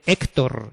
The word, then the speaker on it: Héctor: Porque si no ponen la tilde, hay que decir Ócar, Víctor y Héctor, ¿no? Y no es así. Estos nombres se pronuncian Óscar, Víctor, Héctor, ¿vale?